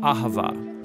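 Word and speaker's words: אהבה: languages as it is in ancient hebrew it's pronounced ahava it most basically refers to the kind of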